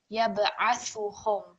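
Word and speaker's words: يبعثهم: Okay, so over here, I've highlighted the ayn because I think again it was too long, so it will be just very simply yab'athuhum. Ayn, tha, ha, and mim, all 4 of them, they're just going to be 1 second prolongation.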